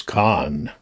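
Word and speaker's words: Kan: His name is Khan. Kind of like the wrath of Khan, but he's a he's a river.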